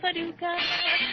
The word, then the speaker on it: Paducah: Paducah, if you want to, you can rhyme it with bazooka. But you can't poo Paducah.